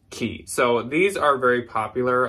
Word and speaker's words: Quay: there's a lot of people out there that pronounce it Quay or something I used to think it was Quay and I have finally found out that it's pronounced key so these are very popular a lot of